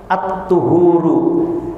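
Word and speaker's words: الطهور: adalah separuh daripada keimanan bacaan yang tepat dari hadis ini adalah dengan domamah huruf thnya atthuhuru yang artinya adalah ya bersuci tapi hadir khiman rahimakumullah kalau dibacanya dengan aturu yaitu dengan fathah pada huruf tho maka artinya adalah air untuk bersuci makanya bahasa Arab itu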